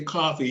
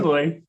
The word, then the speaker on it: Coffe-Loy: thinking if I say coffee, he's going to be like, "That's not my name." Yeah, it's So, coffe-Loy.